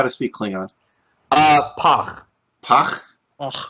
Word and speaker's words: Pagh: All right, so moving on to the Pagh. Pagh. Am I pronouncing it right? Who knows how to speak Klingon? Pagh. Pagh? Ugh. Rhymes with gach. Gach.